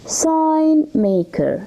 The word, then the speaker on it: sign maker: taken seriously excellent now sign maker sign may the jihee here is silent okay sign maker what's